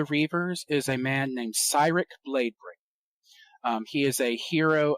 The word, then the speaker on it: Cyric: Please do not mispronounce it. I have heard it pronounced Cyric, Kyrick, Cyric. It is Cyric.